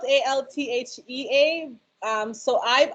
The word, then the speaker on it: Althea: it's okay it's spelt a-l-t-h-e-a um so i've i pronounced it althea the t-h um but i guess to make it easier el altia i'm jamaican i'm born